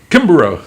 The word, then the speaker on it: Kimbarow: one more time say your last name Kimber oh that's right you said it right I said